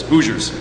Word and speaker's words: Hoosiers: And I love how Jonesy actually pronounces it correctly, and unlike most of us, it just says Hoosiers.